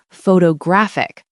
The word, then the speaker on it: photographic: And then just to be mean, English changes it again for the adjective photographic. Now the stress is on the third syllable. So the first O has a secondary stress, but that middle O turns back into awah.